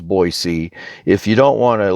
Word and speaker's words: Boise: the way as you might imagine boys and Boise is more lingually compat than boys of Boise